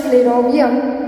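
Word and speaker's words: flerovium: हम फिर बोल सकते हैं या तो ये है फ्लेरोवियम, इट is pronounce as फ्लेरोवियम.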